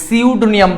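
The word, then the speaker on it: pseudonym: তাহলে সিউডোনিয়াম শব্দটা, সিউডোনিয়াম, বাট এখানে পিটা উচ্চারণ হচ্ছে না, তার মানে এটা সাইলেন্ট লেটার হচ্ছে এখানে কি বলতো?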